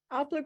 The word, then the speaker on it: Aelper: Pronounce the name of your organization. The way it's Aelper, spelled.